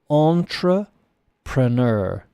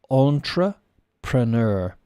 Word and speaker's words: entrepreneur: Maybe we do, but we still use this word, French, and we pronounce it the French way, if possible. Entrepreneur. Entrepreneur.